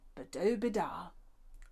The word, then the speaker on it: Badobedah: when i named her madame badou bidar rhymes with ooh la la a good name for